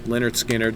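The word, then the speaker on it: Lynyrd Skynyrd: i know you know that anyway um yeah pronounced leonard skinner leonard scannard uh is my number one and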